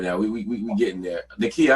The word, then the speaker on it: Nekiya: Nekiya, how about you? So to pronounce my name's Nekiya, by the way.